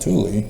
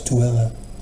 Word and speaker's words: Tooele: I saw it and I went, Thule, what? And I was corrected by a Mormon here in Utah. No, it's Tooele. Well, they need to spell it Tooele, not Thule.